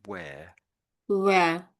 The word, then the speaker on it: where: It's a bit like you're making a V sound at the beginning a little bit. So it's lips together like you're kissing somebody and wh, then open your mouth to get the W sound.